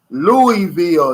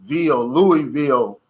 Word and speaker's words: Louisville: He's from Louisville, Kentucky. Louisville is how I pronounce it. It's so many ways to pronounce it, but, you know, I'm from the old school, so it's L-O-O-I-E-Ville, Louisville.